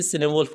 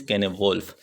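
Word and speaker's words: Cynewulf: कुछ प्रोनाउंसिएशन इसकी सिनेवोल्फ कहते हैं, बट the real pronunciation is केनेवोल्फ।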